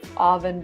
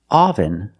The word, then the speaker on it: oven: The pronunciation is not oven, but oven. The first syllable makes a sound like cup and up. This is a relaxed sound. Your mouth is almost closed.